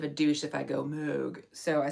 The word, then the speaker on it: Moog: the pronunciation is like Moog. It's some sort of German thing where you have to like round your vowels to an O but then say an E.